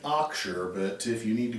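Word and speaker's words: Auxier: that strange last name aux i e r we pronounce it axure but if you need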